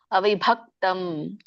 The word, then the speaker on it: ಅವಿಭಕ್ತಂ: ಅದ ಮೂರದನೇಶು ಮೂರದನೇಶ ಇದೆ ಮತ್ತೆ ಭ ಅನ್ನುವಂತದ್ದು ಮಹಾಪ್ರಾಣ ಒತ್ತಿ ಹೇಳಿ ಅವಿಭಕ್ತಂ ಭವಾಗ ನಿಮ್ಮ ಎರಡು ತುಟಿನ ಎರಡು ತುಟ್ಟಿನ ಮುಚ್ಚಿ ಹೇಳಿ ಭ ಅಂದಾಗ ನಿಮಗೆ ದೊಡ್ಡ ಭಳಿಸುತ್ತೆ ಇಲ್ಲ ಅಂದ್ರೆ ನೀವು ಅದು ತುಟಿ ಮುಚ್ಚಲಿಲ್ಲ ಅಂದ್ರೆ ಭೇಳಿಸಲ್ಲ ಬ ಕೇಳಿಸುತ್ತೆ ಬ ಹ ಭ ಎರಡು ತುಟ್ಟಿಗೆ ಒಂದಕ್ಕೊಂದು ಹತ್ತಬೇಕು ತಜ್ಞಾನಂ ವಿದ್ಧಿ ದಕ್ಕೆ ಮತ್ತೆ ನೋಡಿ